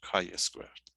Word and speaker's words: chi-squared: This is how we're going to pronounce it, chi-squared.